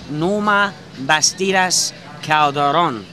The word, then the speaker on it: Norma Bastidas Calderon: Here today we are very proud to have with us as a guest Norma Bastilas Calderon. Well done. Did I pronounce that properly?